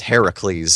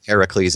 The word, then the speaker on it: Heracles: Um, so, so, uh, in Greek mythology, he's actually known as Heracles. So, it's H E R A C L E S. Ah, but it is Hercules generally. Yes. And then in Roman mythology, it's Hercules. So, you technically got them both wrong. Because it would be Hercules, but Ericles in Greek.